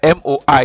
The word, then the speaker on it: moi: In French, when O and I meet, it is pronounced like wa. That's why you say that's why MOI is moi.